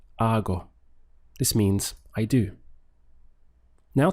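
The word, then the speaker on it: hago: which in Spanish is our go it's a really nice sound the H is silent so your pronunciation just starts from here our go this means I do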